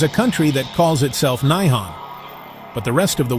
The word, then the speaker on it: 日本: This is pronounced Nihon or Nippon.